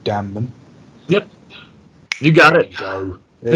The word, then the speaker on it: Damnum: very very soon um i'm probably going to pronounce it wrong but it looks like it's called damman yep you got it there you go just